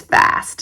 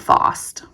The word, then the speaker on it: fast: But here, where I live in America, it's a short A sound. So I just went ahead and it's fast, not FOST.